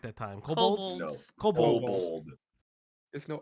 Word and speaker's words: kobold: But the demons were weenies compared to the kobolds. Did I say it right that time? Kobolds?